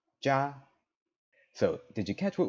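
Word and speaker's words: 家: right here means home in Japanese it's pronounced yeah or Buchi right it's off in Chinese it's gonna be pronounced JA so did you catch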